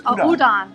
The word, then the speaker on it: udon: Uh here's a I don't know what the I can't pronounce those. Udan. Oh, that's udon.